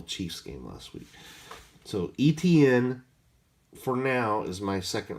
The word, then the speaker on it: Etienne: See, I learned how to pronounce his name after watching the Jacksonville Chiefs game last week. So Etienne, for now, is my second running back.